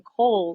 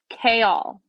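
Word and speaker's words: Chaol: character named it look I would pronounce them coal c h a o l it's kale A Y dash a-l-l-k-all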